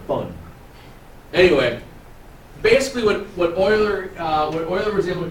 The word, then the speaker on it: Euler: buddies it does look like Euler but it's pronounced Euler why I don't know he's old and he's